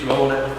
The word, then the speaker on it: Rowney: Is it Rowney or is it Rowney? To me, it's Rowney. It's what we've been called like for 20 odd years. So. Yeah, when I first met him, I got beaten into pronounce it as Rowney.